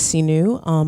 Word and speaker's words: Sihnuu: My name is Sinu. My Instagram is Yoga Sinu, YOGASIHNUU, pronounced like Sinu Possibilities.